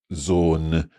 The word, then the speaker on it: Sohn: Then the longer one, boat, so double O in that case. And then similar, we've got zone, which is O-H-N, S-O-H-N, using the H.